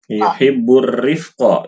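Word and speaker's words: يحب الرفق: An Aisyah radhiyallahu anha qalat qala Rasulullah sallallahu alaihi wasallam Innallaha rafiqun yuhibbur rifqa. Itu bacanya.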